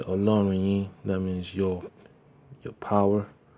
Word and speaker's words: Ọlọ́run: We have the O with a dot underneath. It makes it a short and sharp O. Say Ọlọ́run yín, that means your power, Yahweh, your power.